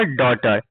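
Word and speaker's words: daughter: डॉटर।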